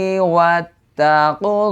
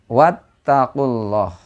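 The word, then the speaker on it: وَاتَّقُوا اللَّهَ: Silah qasirah nah dilanjut wattaqulah nah di sana ada lafaz Allah lagi di sana cara membacanya adalah di tafkhim sebab Apa sebab sebelum lafaz Allah itu berharakat Dah wattaqulah Nah tebal ya wattaqulah Nah di sini karena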